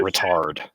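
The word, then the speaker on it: ritard: You pronounce it retard.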